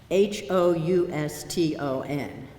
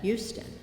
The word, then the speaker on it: Houston: Houston. Now, if you come from Texas, you pronounce that Houston. But if you come from Delaware, you pronounce that Houston. Houston is Houston in Delaware.